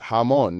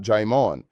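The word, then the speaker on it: jamón: Third, Spanish J's sound like English H's. So, jamon is pronounced hamon, not jimon.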